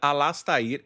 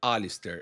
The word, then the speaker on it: Alistair: E eu que finalmente descobri que não se pronuncia Alastair e sim Alistair. Alistair, é bem mais chique, né?